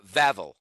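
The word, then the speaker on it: Wawel: Let's start with the Vavl Castle. Now, even though this is spelled W A Wel, it's actually uh Vavl.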